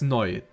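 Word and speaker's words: neu: Like new in German is noi.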